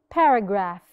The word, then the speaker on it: paragraph: sound for example examples paragraph paragraph I do not say Para no paragraph in pH is silent we do not hear the sounds of P and H mishbinism the S sound